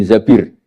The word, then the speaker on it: Zabir: Kemudian saya nikah sama Abdurrahman bin Zabir di hadis ini bukan bacanya bukan Zubair, tapi Zabir.